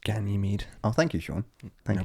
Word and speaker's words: Ganymede: right so the first two were callisto and guy made and they were just hammered with craters very similar to our own moon it's just it's just been hammered over time it's actually pronounced ganymede oh thank you sean thank you problem no